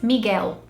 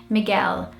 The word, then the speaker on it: Miguel: The Brazilian way of saying this name is Miguel. So the L sound turns into more of a U sound and it doesn't linger. And I think here in the UK, British people say it more often, Miguel. And that L sound lingers a lot more.